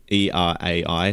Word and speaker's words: Erai: E-R-A-I, spelled like that.